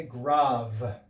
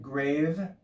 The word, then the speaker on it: grave: greek is called a grave it looks like grave but it's pronounced grav and you can see